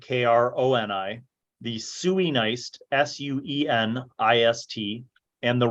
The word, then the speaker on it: Sueneist: The people of Arakazine would have been listed as the Araki, Araki, the Kronii, Kroni, the Sueneist, Suenist, and the Rogaru, Rogaru.